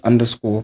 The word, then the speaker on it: Undurscor: spelled different from underscore it's still pronounced underscore but with a different spelling and then at Twitter